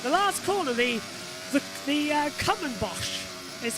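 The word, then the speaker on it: Kumhobocht: but it says the last Corner the the common boss is how it's pronounced k-u-m-h-o-b-o-c HD so there's the combo boss the last corner here muscle up to the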